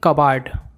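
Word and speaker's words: cupboard: क्या बोला जाता है इसमें पीस साइलेंट होता है इसको बोलेंगे कब बट बोला को हम इंग्लिश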